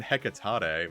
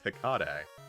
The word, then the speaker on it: Hikade: I was saying Hekatade, but it's Hikade.